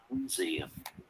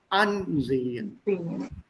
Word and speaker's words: Ansehen: Ansehen. See how clearly he said ansehen. Not ansehen, sondern ansehen. Modul 1.